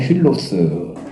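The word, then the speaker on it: φίλος: 여기 나오는 힐로스. 그렇죠? 왜 필로스를 하는데 약간 히읗 발음이 납니다.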